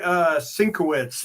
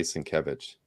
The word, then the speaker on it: Sienkiewicz: Well, you can say Sinkowitz like everybody does too, right? No, I say Sienkiewicz. Okay, you know how to pronounce that one.